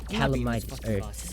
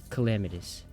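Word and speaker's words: Calamitas: He was harder than Calamitis, I've been saying his name wrong. It's Calamitis.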